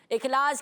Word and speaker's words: Ikhlas: प्यारे बच्चे, नबी करीम सल्लल्लाहु ताला अलैहि वसल्लम ने अपने सहाबी हज़रत मुआज़ बिन जबल रज़ियल्लाहु ताला अन्हु से फरमाया, इखलास के साथ अमल करो कि इखलास के साथ किया गया थोड़ा अमल भी काफ़ी होता है।